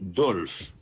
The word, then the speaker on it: Dolph: Numéro 15, Alexis Dolph. Dolph s'écrit D-O-L-P-H.